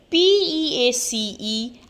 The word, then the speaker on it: piece: c e so here p e a c e and p i e c e both the words sounds same peace but when we talk